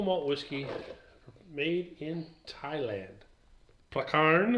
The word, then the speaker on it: Prakaan: Prakaan, I think it's how it's pronounced, even though it's got two A's there.